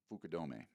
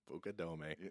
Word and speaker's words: Fukudome: in chicago wrigley field pitching against the cubs um the uh i'm facing coast fukudome ah you know um pukadome there you go it says it all right